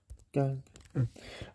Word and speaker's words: 刚: So rich plus knife equals barely, and it's pronounced gāng.